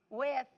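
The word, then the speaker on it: Wythe: born in we and how you say it wife we Kurt we County wife County how do you say it with Virginia with okay um he migrated to Fairfax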